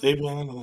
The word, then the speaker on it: Savion: Siobhan Williams. Is that how it's pronounced? Yeah. Is it Siobhan or Savion? I don't know. Savion? Savion, yeah. What about him?